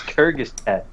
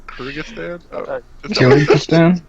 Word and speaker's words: Kyrgyzstan: That's Kyrgyzstan. Come on. Kyrgyzstan.